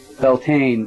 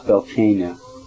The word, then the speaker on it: Beltane: Beltane is how it's said, I say it in American, you know, but it's Beltane in, Celtic.